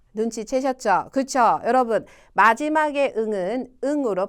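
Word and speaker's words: ん: 하이 응합니다이 응은 뭐냐 응은 여러분 일본어의 받침으로 쓰이고요 한국어로 니은이 미음이나 이응 발음이납니다 일본인한테 물었어요 응이 니은이 미음이 이응이 이렇게 물었을 때 일본인이 응와 응 다요 이렇게 얘기를 했어요 사실 응은 여러분이 발음하시는 가장 편안한 받침으로 발음할 때 그 발음이 맞습니다 자 그러면 받침이라 개념이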